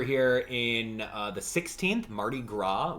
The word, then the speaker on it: Mardi Gras: in uh the 16th mardi gras without pronouncing the s at the end for sure and then uh yeah